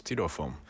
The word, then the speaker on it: styrofoam: Maybe it's a certain country that pronounced styrofoam as styrofoam. Maybe the spelling looks like styrofoam. Oh, okay. Styrofoam. Yeah. In English, it's pronounced styrofoam.